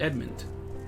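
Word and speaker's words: Edmont: with edmund and mint i don't know why that name is messing me up it's just edmund but yeah like i like try to add like an extra syllable in there edmund it's just edmunds speak with admit in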